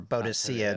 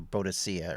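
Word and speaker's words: Boadicea: against the Romans oh Boudicca or bodocia depending on who whose pronunciation yeah boudicca's is the more modern pronunciation it was I think the British victorians called bodicea originally uh that's good though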